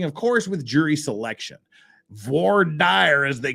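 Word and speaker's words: voir dire: they'll be starting of course with jury selection V Dy as they call it out there in Utah which is exactly how you should pronounce it don't don't buy into this Vader stuff it's it's V dire it's V trust me it's VY that's how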